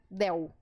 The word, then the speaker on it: del: Del. Mas não, no espanhol, a letra L é sempre L. Então, eu vou te pedir que você faça uma força maior para pronunciar esse L, tá?